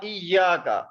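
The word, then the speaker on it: إياك: This we will pronounce. Wa iyyaka.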